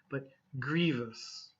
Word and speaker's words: grievous: Be careful of syllables here. Some people say like grievous or something, but grievous.